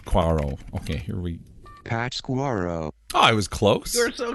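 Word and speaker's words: Pátzcuaro: that stuck out to me in particular is pat's quarrel lake i've got to look this up how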